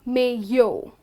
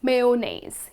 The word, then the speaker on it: mayonnaise: with mayo but again it's male it's not me yo all right so it's mayonnaise you will not pronounce the letter y okay so let's quickly